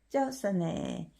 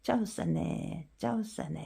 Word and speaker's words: เจ้าเสน่ห์: 叫死你，叫死你，叫死你，叫死你，叫死你， 짜오싸네. 일성은 오른쪽이 내려가게 표시하죠. 낮은 곳에서 더 내려가니까. 짜오싸네 매력적인.